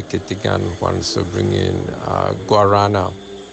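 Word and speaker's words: guaraná: And now Jeffrey Kittigan wants to bring in guarana, or huarana as it's pronounced by the Portuguese.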